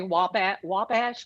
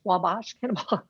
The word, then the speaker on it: Wabash: we must she's saying it's not pronounced with a broad a so that would mean wabash wabash yes anyway we stand